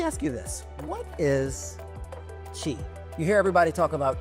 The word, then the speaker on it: Qi: So let me ask you this: what is Qi? You hear everybody talk about Qi, spelled with I, oddly enough. Yes. I always thought it was CHI for the longest time, but you hear about Qi.